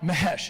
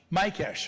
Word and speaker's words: Mikesh: Mahesh is how you say it, right? Mike Mahesh. I'm sorry, Mike. No, it is. How do I say your last name? Mikesh.